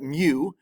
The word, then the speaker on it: mu: going to Signet we're going to call it mu is how you say this mu of x